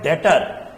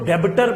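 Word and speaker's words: debtor: Next item पे चलते हैं जिसका नाम है डेटर। बेटा इसको हम लोग डेटर पढ़ेंगे। बहुत सारे बच्चे इसको डेबिटर पढ़ते हैं।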